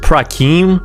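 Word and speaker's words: פרחים: So yeah, right now it has this text which is pronounced Prakim, which is just Hebrew for flowers.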